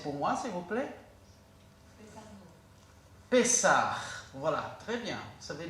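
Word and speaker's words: פסח: Qui pourrait le prononcer pour moi, s'il vous plaît? Pessah.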